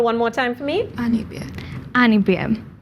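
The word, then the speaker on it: Anibare: of the symbol one more time for me Annie be an bear Annie bear spell it for me a n i b a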